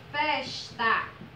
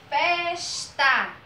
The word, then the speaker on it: festa: vou dar que o exemplo da palavra festa pronto você pronuncia como se você tivesse chamando vizinho certo você fala de maneira mais que eu faça para você poder perceber festa ou foi a sílaba que a gente pronuncia com mais força a sílaba é então como ela é a penúltima sílaba então ela vai ser